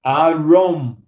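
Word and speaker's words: עָרוֹם: E a palavra nu se pronuncia Arom.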